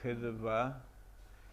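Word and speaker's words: חדוה: placer especial, y que en hebreo se escribe Het Dalet Vav Hei, entonces se dice Hedva.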